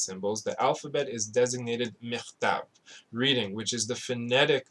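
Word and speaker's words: מכתב: That's how you say it. It's not ketiva in Hebrew, it's michtav, right?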